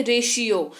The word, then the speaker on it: ratio: सबसे पहला है रेशियो, RATIO, इसको रेशियो पढ़ते हैं। यहाँ पे तालव्य श जो है वो टी का उच्चारण हो रहा है, रेशियो।